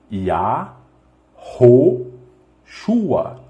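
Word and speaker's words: Yahushua: casa para você aprender ea ro chuá ea ou chuva e arroz rua e arrocho a rua e isso é como se fala e não como se escreve tudo bem este sim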